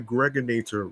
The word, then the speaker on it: Gregonator: This is your man and homie, aka the Gregonator, rhymes with Annihilator, your host with the